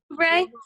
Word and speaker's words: Oubre: Oubre.